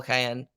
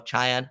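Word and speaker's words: Čajan: Didn't play against the Red Wings, but I thought Pavel Kayan, or Chayan, I believe it's pronounced, played okay against the Red Wings.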